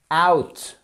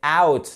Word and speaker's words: out: Out. Et c'est pas le out, c'est out. Là, c'est pas ou, c'est out.